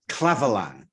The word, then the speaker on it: Clavelin: Of course, the bottles that these wines come in are the Clavelin.